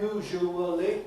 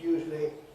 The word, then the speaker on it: usually: Usually, like actually, is not usually in full syllable, but it's usually either 2, as I just said it in, usually, or if it's 3, it's usually, and with a schwa in the middle.